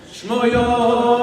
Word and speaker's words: Schmoyoho: Schmoyoho, accent on the yo.